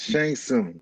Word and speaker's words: Shang Tsung: So what was I pronouncing wrong, and what is your opinion on this movie, in general? Oh, Well, it's Shang Tsung.